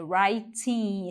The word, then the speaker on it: writing: escrevendo escrever writing escrevendo na verdade é writing esse w é mudo o que que Grand